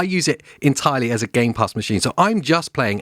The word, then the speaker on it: Game Pass: Game Pass machine yeah I said it right this time it didn't say games pass yes trigger warning needed now I use it entirely as a Game Pass machine so I'm just